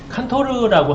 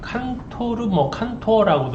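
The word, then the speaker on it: Cantor: 칸토르라고 하는, 칸토어라고도 이렇게 발음을 하던데요.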